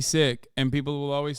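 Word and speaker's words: Sikh: really care okay but that is how you're supposed to say it in the language that's how you say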